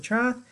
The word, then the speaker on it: trough: you go that's a trough and it's pronounced trough t-r-o-f trough that's how we pronounce it i know it's one